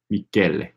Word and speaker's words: Michele: Oh yeah, I mispronounced Michel. Michele.